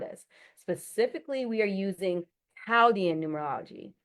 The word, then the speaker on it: Chaldean: Specifically, we are using Chaldian numerology. Even though it looks like it should be pronounced Chaudian, howian numerology, the Caldian society was